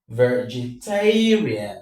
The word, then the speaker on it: vegetarian: The one before rian is tay. Ve ge ta rian. The stress falls on tay.